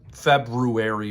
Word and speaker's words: February: I think a Feb February read for me that's right I pronounce the r in February demonic maybe I'll drive